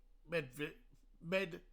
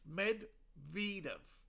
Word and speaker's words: Medvedev: Now, apparently I've been pronouncing Medvedev. Yeah, I've been pronouncing his name wrong. It's Medvedev. Apparently.